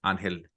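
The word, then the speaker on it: Ángel: One of my coworker, his name's Angel. He pronounces it Angel, but everyone calls him Angel.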